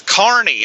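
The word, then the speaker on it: Kearney: is it Kernney or Carney? And they said it's Carney. And they said that everyone that doesn't live around here typically pronounces it as Karnney. So, it's Carney according to the locals.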